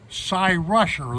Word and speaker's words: Cyrusher: particular bike right here is Psy rusher that's how you pronounce that PSY rusher and believe you me